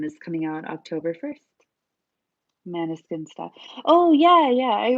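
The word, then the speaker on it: Måneskin: interview and they're like, "Well, Maniskin is how people pronounce it in Italy, but that's not correct." And I was like, "Wait, what?" Because that's the only way I've ever heard people say it. And then I got really confused. But I guess it's like a Dutch word, um, and it's pronounced differently in that language.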